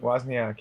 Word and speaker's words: Wozniak: Yeah, Wozniak.